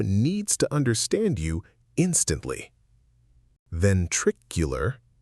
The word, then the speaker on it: ventricular: Ventricular fibrillation.